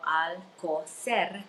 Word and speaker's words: Alcoser: And my last name is even difficult for, I mean, Alcocer. So Alcocer, Right. you're rolling of the R.